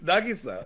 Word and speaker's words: Nagisa: Alex, how did you pronounce that name? Kokoa? Nagisa. He said Nagisa. Nagisa. Nagisa. Nagisa. No, it's Nagisa.